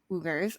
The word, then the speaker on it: Uyghur: ugers which is our research showed that most ubers at least the ones who showed up in our search results prefer the pronunciation that we will be using in the